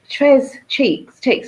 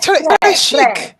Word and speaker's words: Tres Chicks: The Tres Cheeks. I always say it wrong. Am I saying it correctly? I'm sure. Shouldn't it be the French? Très chic. The French pronunciation.